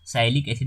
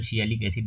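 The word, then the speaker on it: sialic acid: NaNA बोलते हैं, N acetyl न्यूरामिनिक एसिड, इसको आप साइलिक एसिड भी बोलते हो, ये तो सियालिक एसिड जो आप प्रोनाउंस करो, सियालिक एसिड इसको बोला जाता है।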